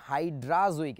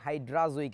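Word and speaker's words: hydrazoic: বাদ দিলে কি হয়েছে, হাইড্রাজোইক অ্যাসিড। হাইড্রো অ্যাজোইক না বলে একবারে আবারও বলছি হাইড্রাজোইক অ্যাসিড বলছি আমরা। এটাকে আমাদের বইতে লেখা থাকে হাইড্রোজোইক, উচ্চারণটা আসলে হাইড্রোজোইক না, হাইড্রাজোইক অ্যাসিড।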